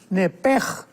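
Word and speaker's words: נפש: porque es la palabra nepesh con sh al final. Nep. En el hebreo se pronuncia eh la sh con j. Entonces, la pronunciación hebrea es nepej.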